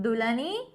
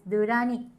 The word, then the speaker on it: Dulani: So, actually, my name in Japanese, it's not Dulani. You need to say as Durani. La becomes ra.